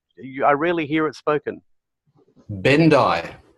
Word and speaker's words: Bendich: Bendai. Bendai. Bendai. Bendai. So we don't pronounce the CH, and it's Bendai. All right. So, well, maybe you don't. Maybe you do in Germany, but in Australia we don't.